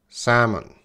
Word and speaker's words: salmon: And the pronunciation is salmon. Salmon. Salmon. My favorite fish to eat is salmon. There's no L sound.